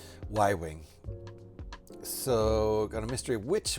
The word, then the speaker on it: Y-wing: I pronounced it Yu-wing. What a dork. Y-wing.